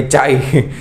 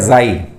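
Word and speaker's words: chi: है इसको बोलते actually C एच I spelling है तो काफी लोग बोलेंगे चाई तो ये एक्चुअली चाई नहीं है इसको एक्चुअली प्रोनाउंस जो है इसका होता है जाई ठीक है जाई तो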